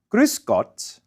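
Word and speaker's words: Grüß Gott: waiter approaches we say griscott listen closely to the vowel and gruse now this is not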